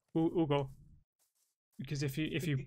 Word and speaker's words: Hugo: Because in Spanish, the H doesn't mean anything unless it's like after a C or an S. Yeah, it's like my name would be Ugo, and Hugo. Ugo.